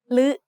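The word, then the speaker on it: ฦ: The other pair of vowels is similar, except they are pronounced like a combination of ลอลิง with the vowel sounds สระอึ or สระอือ ลึ and ลือ are written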